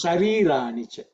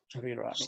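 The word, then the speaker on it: शरीराणि: Sharirani, sharirani. Sharirani. Not sharirani. Okay, yeah, because if I did not come for the class, that's how I would have I would have pronounced it.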